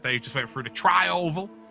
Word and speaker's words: tri-oval: just went through to try oval uh that's how they say it yeah there you go that's like a trifle but with oval at the end speaking of americans mitchell